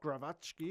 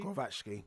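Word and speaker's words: Głowacki: Okay, well, we've rambled on enough for Lawrence Okolie versus Krzysztof Krzysztof Glowacki. Glowacki. Yeah, I'm still working on that pronunciation.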